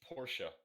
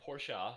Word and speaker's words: Porsche: really like the porsche it's porsche not porsha he says at the end and i don't know